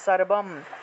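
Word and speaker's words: সর্বং: অনুস্বার থাকলে ম উচ্চারিত হয়, সর্বম, ঠিক আছে?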